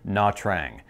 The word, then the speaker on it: Nha Trang: Okay, we're gonna be trying to pronounce the Vietnamese word here. Nha Trang.